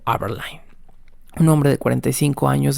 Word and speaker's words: Aberline: Ahora sí investigado y sí pronunciado como Aberline.